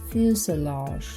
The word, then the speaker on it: fuselage: So that's why we don't pronounce this word according to the English reading rules.